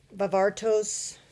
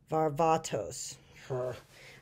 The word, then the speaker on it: Varvatos: a fine and a half as a John vavartos let me say it right Varvatos I found um a suit but the suit